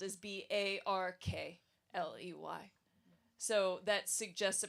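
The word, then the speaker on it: Berkeley: see it spelled is B A R K L E Y. So that suggests a pronunciation of R Barkley which is still the current pronunciation in England.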